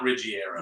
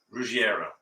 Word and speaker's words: Ruggiero: could be the route no not rigiero ruggieros well that's how it's spelled actually ruggiero you say fast like that's ruggiero yeah can we talk